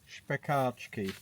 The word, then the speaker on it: špekáčky: So when a S has the V, it's sh. And when a C has the V, it's ch. And when an A has that, it's like not So it's špekáčky.